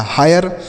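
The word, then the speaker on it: hire: यच से पढ़ेंगे हा, आई का उच्चारण आय के रूप में तो यह हो गया हाय, आर ई से रॉ लिखा गया हायर।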